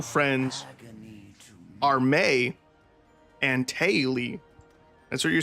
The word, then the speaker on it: Mai: you calling her a Mai is going to be great engagement bait for YouTube. It's pronounced May. It is absolutely not. Is her name May? It's not Mai, like My Valentine from Yu-Gi-Oh!